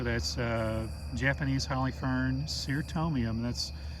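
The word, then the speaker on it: Cyrtomium: uh japanese holly fern sir tomium that's notice how i pronounce that c it's not a k sound it's an s sound so ser tomium falcana valkatum roquefortianum so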